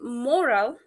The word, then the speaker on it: moral: Uh, for example, uh, listen moral that the stress is on the first syllable and morale that the stress is on the second syllable.